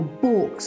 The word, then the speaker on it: balks: Above the cow stalls, we've actually got the wooden balks, or balks as it's pronounced in Swaledale.